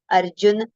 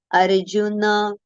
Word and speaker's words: Arjuna: recited as Arjun or Arjuna okay but it is not Arjun it is n is the n we have to pronounce with a complete pronunciation so it is Arun Arun okay so n and